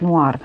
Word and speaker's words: Noir: вами мурмур No ну Нуар вот тут написано Нуар но произносится йр всё-таки Ну можно и сказать Нуар вот смотрите у нас